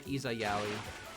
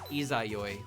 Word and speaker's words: Izayoi: Skuya is funny because I used to call her Izayaoi. And I think that was actually partially because I wasn't sure how to pronounce it. It's Izayoi, but I would call her Izayaoi because I just did.